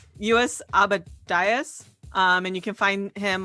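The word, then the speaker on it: Lluis Abadias: from one of our listeners, but the artist is sorry, I had to double check that I pronounced his name right. US Abadias.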